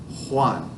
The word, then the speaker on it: Juan: That J is an H sound. Juan.